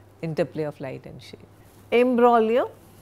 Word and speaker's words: imbroglio: Imbroglio, G is silent, a violent and complicated quarrel.